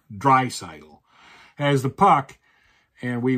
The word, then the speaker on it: Draisaitl: And Draisaitl has the puck. Or Draisaitl. I'm sorry, I mispronounced. I know somebody pointed out to me that I mispronounced his name once, so it's Draisaitl.